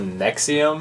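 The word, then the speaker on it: NXIVM: It's called Nexium. Is how it's pronounced.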